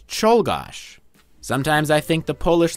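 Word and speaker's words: Czolgosz: had a name that was much harder to pronounce go here's the name take a moment to read that any guesses it's cholos sometimes I think the Polish language was designed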